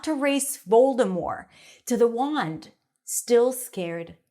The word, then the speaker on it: Voldemort: decision not to race Voldemort to the wand still scared Harry now I know that in the movie they say Voldemort with a t but apparently the author